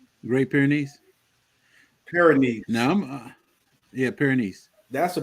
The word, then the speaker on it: Great Pyrenees: How do you pronounce the other dog? Great Pyrenees. Great Pyrenees.